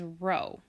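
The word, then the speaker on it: rho: the population parameter that's going to be pronounced as row with the sample statistic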